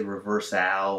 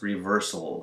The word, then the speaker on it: reversal: as you can see the ale at the end of the words is pronounced with just an L sound we don't say reverse owl or reverse all it's really just reversal it goes straight from the s sound as sound into an L sound the same is